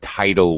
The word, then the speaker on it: tidal: Also, and another note for you especially, I noticed that you have a reluctance to pronounce vowels in the long form. For example, you said cyclones and tidal waves, but it's cyclones and tidal waves. Okay. Especially where you see usually a Y used as a vowel, typhoons and cyclones. It's usually a long I sound.